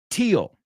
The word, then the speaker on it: teal: it in the future the second word teal teal teal rhymes with say them with with me teal rhymes with steel that could be still